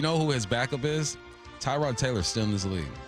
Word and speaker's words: Tyrod: He was like, I just kind of let people roll with it, but it's Tyrod. Tyrod.